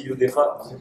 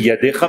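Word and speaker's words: ידך: Est-ce que je le prononce aussi Yudecha? Non, tu dis Yadecha mais tu penses Yudecha.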